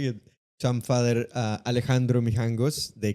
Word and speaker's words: Alejandro: They would say Alexandro or Aleandro.